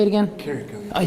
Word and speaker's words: Carrico: Let's talk to Corporal Brad Carrico. How do you say it again? Carrico.